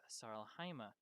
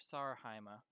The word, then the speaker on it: Sar-Heima: in the werewolf captive sarlahima um or sarhaima uh actually i mispronounced that there's an l that doesn't belong because i'm not wearing